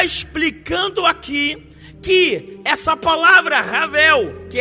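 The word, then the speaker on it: הבל: Então a palavra vaidade, aplicando-se aqui a tradução Ravel, toda vez que a pronúncia Ravel começa com H, mas sai como som de R, Ravel, 38 vezes, apresentando a vida aqui como algo fútil, como algo sem esperança.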